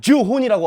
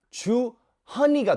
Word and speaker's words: 주헌: 나는 여기서 JOOHUN 하면 주혼이라고 하고 100에서는 헌이라고 하고 이걸 어떻게 하면 좋게 발음을 할까 하다 보니까 주헌이가 됐죠. 근데 여전히 제 패스포트 안에는 HEON으로 돼 있습니다.